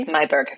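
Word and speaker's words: Meiburg: Am I pronouncing her last name correctly, by the way? Mayberg.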